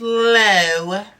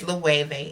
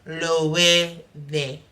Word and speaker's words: Loewe: I thought it was Low, but it's Loewe. It's a Spanish brand, but the brand name is German. So the W actually has a V sound. Loewe.